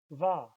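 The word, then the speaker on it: wer: Who is va. Remember that ER says ah.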